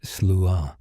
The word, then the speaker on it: Sluagh: The Slooh, pronounced roughly as Slooh, comes from the Scottish Gaelic phrase Slooh Namab, which translates directly to host of the dead.